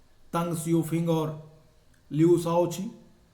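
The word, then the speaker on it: Deng Xiaoping: अब बदलाव में 2 लोगों का नाम आता है, तंग सियोफिंग और लियू शाओची, जिसे मैंने डेंग जियोपिंग आपके बुक में लिखा हुआ है। अगर आप हिंदी में प्रोनाउंस करेंगे तो तंग सियोफिंग इसका होगा।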